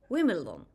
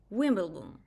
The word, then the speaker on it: Wimbledon: For example, the word Wimbledon, even sometimes without B. Wimbledon, not Wimbledon, Wimbledon, Wimbledon, Wimbledon. Not Wimbledon, that would be bad. So I would say Wimbledon, but I could also say Wimbledon, and everyone would know